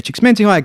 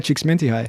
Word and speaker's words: Csikszentmihalyi: Mihai Csikszentmihalyi coined that term in 1975. That was a good pronunciation as well. Hey, Yeah, you said it really quickly. It's my Eastern European heritage. Say it again. Mihai Csikszentmihalyi.